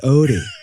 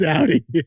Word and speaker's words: Audi: Or is it pronounced Odie? It's Audi. I was a German major.